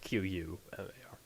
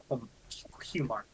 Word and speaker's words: Qumar: Pronounced Qumar. So it's pronounced Qmar.